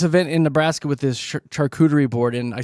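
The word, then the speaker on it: charcuterie: I guess it's a shuderie board. It is. Okay. Instead of a charerie board.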